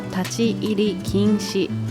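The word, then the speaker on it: 立ち入り禁止: なのでこれは立ち入り禁止と読みます。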